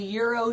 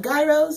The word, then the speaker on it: Gyros: It's not gyros, gurus, yeah, gyros? It's phonetically incorrect. It's the G is silent, and so's the S at the end.